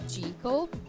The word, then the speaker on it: Jekyll: Did you know the original pronunciation is Jekyll? Only the first Sound movie got it right.